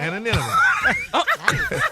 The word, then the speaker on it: anonymity: Anonymity.